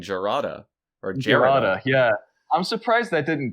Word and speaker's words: Jarada: uh the racial analog to pronounce it with an h like once you get the j in there it kind of loses some of that the hard j exactly so i can